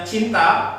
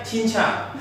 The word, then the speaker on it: cinta: Kadang-kala ada pengucapan kalimat itu misalnya harusnya cinta, tapi penyanyi itu kadang menyebutnya cinca.